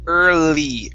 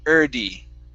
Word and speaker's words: early: what's going on is you're pronouncing this d sorry this l like a d you're saying urdi all right uh the